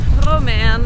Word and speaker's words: Romaine: My name is and my wife's name is Romaine. Romaine. For the ones that can't pronounce it, just say Romy, because nobody can